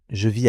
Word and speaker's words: vis: Beaucoup d'apprenants confondent je vis avec je vais. Ce sont deux sons très proches.